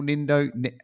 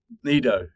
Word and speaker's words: Nido: I'd had in El Nino. Sorry, El Nid. How do you say it? Nido.